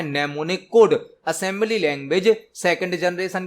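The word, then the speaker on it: mnemonic: और assembly language में नेमोनिक code का यूज किया जाता है। नेमोनिक कोड, इसकी स्पेलिंग एम से स्टार्ट होती है, एम साइलेंट होता है।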